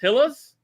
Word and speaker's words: Gila: I think it's pronounced with an H, though.